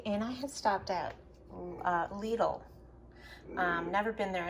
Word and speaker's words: Lidl: Okay, so anyway, I went to Lidl, and they say it rhymes with needle.